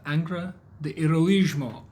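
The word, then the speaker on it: Angra do Heroísmo: well we're back from the Museum of angra the heroismo I got it right I looked it up to make sure I was pronouncing it right because I feel like I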